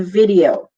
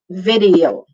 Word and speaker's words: video: It's a video. Video for free. Tama. Video. 3 lang pala. 3 syllables. V-D-O. Video. Video.